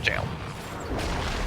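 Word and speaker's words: gaol: isn't oldfashioned spelling of jail of course it is yep uh generally joking in community as gol but it is jail anyway so now you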